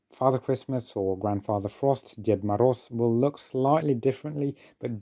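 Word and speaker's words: Дед Мороз: It is Ded Moroz. Ded Moroz, which literally translates as Grandfather Frost.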